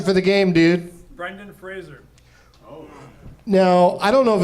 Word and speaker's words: Fraser: Brendan Fraser. Now, I don't know if it's actually pronounced Frazier, Tough one.